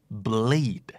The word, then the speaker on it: bleed: d brandแปลว่ายี่ห้อ b l a n d bland แปลว่าจืดแปลว่าไร้รสชาติครับคู่ต่อมาครับถ้าเกิดออกเสียงเป็นตัว R มันจะหมายถึงการผสมพันธุ์ขยายพันธุ์แพร่พันธุ์แต่ถ้าเป็นตัว L จะหมายถึงเลือดออกนึกออกไหมครับ breed bleed b r e e d breed BLEED bleed